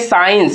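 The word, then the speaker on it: science: साइंस तो ये वाला एस सी जो है ये दोनों साइलेंट होता है। लेकिन इसको हम लोग एस सी मिला के सी साउंड यहां से ये होता है।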